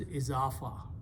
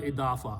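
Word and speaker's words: إضافة: but izafa is sufficient is in in arabic called idafa but in urdus of zafar buddha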